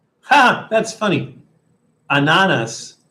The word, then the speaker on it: ananas: Ananas, like bananas without the B in front of it.